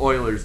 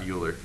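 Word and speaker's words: Euler: number is called yeah that's right it's called Oilers number um and that's how you pronounce that Leonard Oiler was a Swiss mathematician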